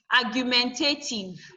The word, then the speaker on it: argumentative: the first word syllable, you now add ative to it, argumentative. Argumentative. That nothing changes. You will still go with the base word. The way you stress your base word will still remain. So your R is still stressed, even with the addition of what?